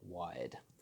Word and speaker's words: Wyrd: general conversation point is the pronunciation of the business name wired so it's a little